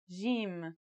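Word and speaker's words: جيم: In standard Arabic and Syrian Arabic, it should sound like the J in the word jam, while in Egyptian Arabic, it sounds like the G in the word game.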